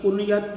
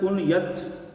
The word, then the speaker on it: کنیت: وہ کسی شخص کی کنیت ذکر فرماتے ہیں. ذہن میں رکھیں لفظ صحیح ہوتا ہے کنیت، اور اس کو لوگ کنیت پڑھتے ہیں، غلط تلفظ ہے۔ تو امام ترمذی نے